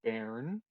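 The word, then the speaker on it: Baern: um as i was saying my name is baron that's b b-a-e-r-n silver hammer i will give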